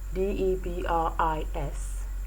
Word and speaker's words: debris: and words like debris d-e-b-r-i-s debris the s becomes silent a word like l-o-c-u-s-s-t-a-n-d-i